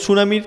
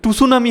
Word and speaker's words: tsunami: যেমন সুনামির প্রথমে কি থাকে? TSUNAMI, তবে হয় সুনামি, কিন্তু টুসুনামি হয় না উচ্চারণটা কি হয়?